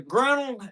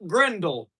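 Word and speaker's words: grinnel: That thing, depending on where you are in the United States, it's a grenle. And it's not gindle.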